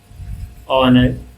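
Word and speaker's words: honour: और उसी तरह ऑनर या ऑनेस्ट के साथ ए नहीं बल्कि एन का यूज़ होगा, क्योंकि एच साइलेंट है और ये ओ का ही साउंड क्रिएट कर रहा है, लाइक ऑनर और ऑनेस्ट।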